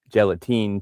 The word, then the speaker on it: gelatine: All right, Paul is saying just like Australia, just like New Zealand, they don't pronounce the E. It's still gelatin even though it has an E on the end.